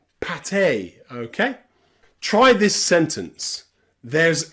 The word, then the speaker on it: pâté: But here, that E on the end with the accent marker is always pronounced A, café, and pâté, okay?